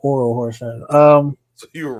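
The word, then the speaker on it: Orel Hershiser: I said Earl Horshizer, not Oral Horshizer.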